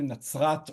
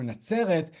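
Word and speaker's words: נצרת: In Hebrew, in modern Hebrew, it's pronounced either Natzrat or Natzeret.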